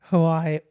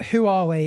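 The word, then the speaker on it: Huawei: Wei ha arei See I I I usually say Hawaii Hawaii huwe ha Hai Hawaii but who are we is wrong apparently who are we it's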